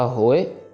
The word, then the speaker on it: होए: सो इसको होए नहीं पढ़ना। होए हो को लंबा खींचो। इड़ी से हरी ए आप छोटा हो जाएगा। फिर सो रक्षा होए सेम चीज ताहे अक्षर की कंस्ट्रक्शन भी वैसे ही है।